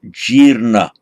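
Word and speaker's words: jīrṇa: The past participle of jr, it lengthens makes a long e followed by r, jirna. And jirna, even modern Hindu, they use the same, jirna meaning something is decayed or rotten.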